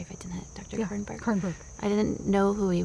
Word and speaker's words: Kernberg: Kernberg.